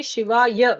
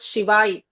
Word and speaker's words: Shivaya: So, in uh for instance, Om Namah Shivaya Shivaya, when you're saying it, say Shivaya, not Shivai. In Hindi, they say Shivai.